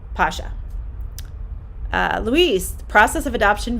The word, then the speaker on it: Pasha: So their names are actually pronounced in Russian Ruslan, and Pasha.